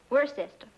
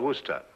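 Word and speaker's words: Worcester: But it's spelled W O R C E S T E R. We're sister. Oh, yes. I see. Yes. Lord Worster.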